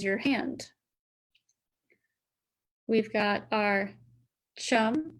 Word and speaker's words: chum: We've got our chum salmon, which rhymes with thumb. So there's chum, thumb, and then there's sockeye.